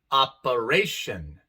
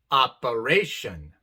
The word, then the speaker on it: operation: Por ejemplo, excellent, excellent, interest, interest, operation, operation. En la palabra excellent tenemos 3 letras E. La sílaba de en medio es la no tónica, la que no es acentuada para nada, y por eso se pronuncia A con el